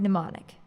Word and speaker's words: mnemonic: same Greek root is the word mnemonic the M is silent in her bag her